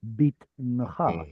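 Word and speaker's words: בִּטְנְךָ: but the original vowel there was a short I vowel, bitncha, bitncha.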